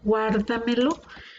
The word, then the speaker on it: guárdamelo: La sílaba tónica está una antes de la antepenúltima. Esta es última, penúltima, antepenúltima y esta es una antes de la antepenúltima. Por lo tanto, esta es una palabra sobreesdrújula.